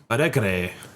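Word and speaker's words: Porto Alegre: Algre. I'm not pronouncing anything right.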